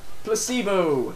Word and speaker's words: placebo: today repeat after me Placebo the stress is on the M the stress is on the middle syllable I really it's a